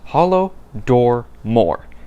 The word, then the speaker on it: Holodomor: Here it is, Holodomor. These three words, combine them and you get the pronunciation of Holodomor, which translated from Ukrainian to English simply means famine.